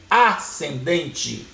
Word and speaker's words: ascendente: Por exemplo, se a reta for ascendente, olha, eu escrevo AS, mas pronuncio ascendente, porque aqui é um dígrafo.